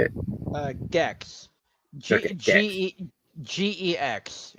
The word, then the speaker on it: Gex: Gex. Okay, Gex. Gex. It's pronounced exactly how you think it is.